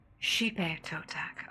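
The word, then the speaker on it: Xipe Totec: I'm gonna see about because it's Xipe, which I thought kind of had like a breathy kind of sound to the pronunciation, if that makes sense. Oh, it's she. Hipe Totec.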